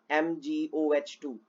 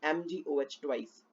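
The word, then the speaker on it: Mg(OH)2: Some students pronounce it as MgOH2. It is not OH2, it is MgOH twice, magnesium hydroxide.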